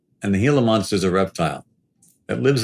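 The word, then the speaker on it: Gila monster: people know what a heal a monster is or the fact that it actually is spelled with a G pronounced as an h and the heila monster is a reptile that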